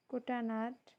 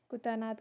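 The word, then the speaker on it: Kuttanad: जगह अच्छी कौन अच्छी कुटानाड आपको आपड़ केमती प्रोनाउंस करेंगे कुटानाड बोली प्रोनाउंस करछे आपन कहीं कुटानाद कहीपर या फिर कुटानाद कहीपर जमती भी बट स्पेलिंग सेम रहा ओके तो कुटानाड बोली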